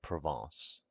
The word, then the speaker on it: Provence: He became subservient to the French element and his wife's relatives from Provence, pronounced Proven.